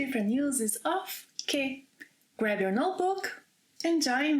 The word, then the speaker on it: quê: accessory, but it also must be pronounced with emphasis as que and not ki.